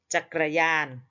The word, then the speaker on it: จักรยาน: อาา ยาน ญาน จักรยาน ก ไก่ กับ ร เรือ เป็น ตัว สะกด ไม่ อ่าน ออก เสียง ร เรือ แต่ บาง คำ ต้อง อ่าน เป็น เหมือน มี สระ อะ ควบ อยู่ เช่น จักรยาน เครื่อง จักร ร เอือ